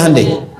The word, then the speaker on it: Hyundai: Kita bisa kita dari TK sehingga ketika di sana bikin Honda sini Handai. Hyundai kan dibacanya Hande ya kan.